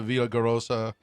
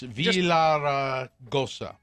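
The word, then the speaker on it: Villaraigosa: That was after Gary Pierce, a commissioner of the five-member Arizona Corporation Commission, wrote a letter to Villagarosa. I can't say his name. It's Villaragosa.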